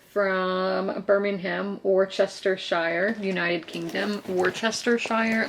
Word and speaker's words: Worcestershire: Worcestershire, like Worcester, that's a funny way to hear Americans pronounce, because there's a sauce called that, but here we go into it.